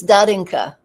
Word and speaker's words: Darinka: It's Darinka.